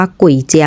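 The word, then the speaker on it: 簋街: ชื่อ ถนน นะ คะ ก็ ยัง ออก เสียง ว่า กุ่ยเจียว เหมือน เดิม เพียง แต่ เปลี่ยน คำ ว่า กุย ให้ ไม่ เป็น คำ ที่ แปล ว่า ผี เพราะ ดู ไม่ เหมาะ สม กับ ย่าน ร้าน อาหาร นั่น เอง ค่ะ ร้าน นี้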